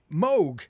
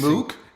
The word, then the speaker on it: Moog: And, and funnily enough, you've been working for Moog, who we've been mispronouncing. You mean Moog?